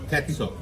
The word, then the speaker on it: Ketso: Ketso. Ketso. Ketso. Ketso. Ketso. Although everybody calls me Ketso. Ketso. Yeah, mainly because it rhymes with fatso.